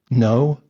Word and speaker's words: know: you're kidding me right KNN o w spells no it's cognate with Kean